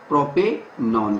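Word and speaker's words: propanone: चलिए आगे बढ़ते हैं और बात करते हैं प्रोपेनॉन की।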